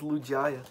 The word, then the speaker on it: Lugia: yeah yeah i'm sorry lugia you said it wrong it's lugia oh oh man now